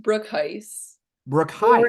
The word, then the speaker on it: Broekhuis: including our guest Brook host am I saying that correct no but that's okay it's actually pronounced Brook Heist Brook Heist or if you're Dutch you can say brook house so all sorts of